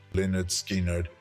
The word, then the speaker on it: Lynyrd Skynyrd: satire they decided to rename themselves Leonard skard pronounced with a strong Southern draw despite this humorous origin